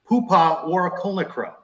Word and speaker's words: Poohpha Warakulnukroh: But a bright spot this season is our next guest on the Sons of UCF Live, sophomore guard Poohpha Warakulnukroh.